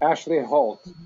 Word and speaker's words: Ashleigh Hoult: Help me pronounce her name. Ashleigh Hoult. Ashleigh Hoult.